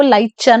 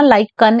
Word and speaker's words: लाइकन: और वो कहते हैं कि स्मेल ऑफ लीव्स और लाइकन जो होता है ना, लाइक इसको लाइचन नहीं बोलना, लाइकन इसकी प्रोनाउंसिएशन है।